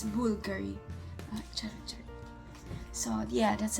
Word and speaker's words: Bulgari: have to say it Bulgari. Like you're saying it na, like alam mo yung, like boo, like Halloween, not Bulgari. It's Bulgari. Char. So yeah, that's how you say it, Bulgari.